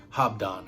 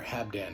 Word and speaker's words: Habdan: today i bring you hobdon or habdan however you want to say it i've heard it pronounced you know a couple different ways but um i say hobdon so whatever but here's